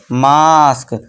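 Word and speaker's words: mask: जब ए के बाद एस टी या फिर एस के आए तब भी ए का उच्चारण बड़ा आ से यानी आम वाले आ से करते हैं।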